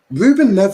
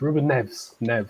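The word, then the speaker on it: Rúben Neves: Ruben Neves isn't a bad shout as a backup. That's not how you say his name. It's Ruben Neves.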